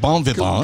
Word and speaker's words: bon vivant: The T would not be pronounced in French.